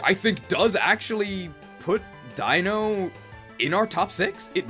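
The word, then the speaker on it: Deino: say it which I think does actually put Dino in our top six it might so Master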